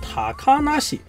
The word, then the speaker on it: 小鳥遊: You put haya and se together to get hayase Most of the surnames in Japan are concatenated in this way, but Kotoriyu is pronounced differently.